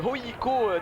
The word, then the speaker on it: HJK: Ligue des Champions, puisqu'en premier tour préliminaire, le HJK d'Helsinki, c'est comme ça que l'on prononce, le HJK si vous préférez, est allé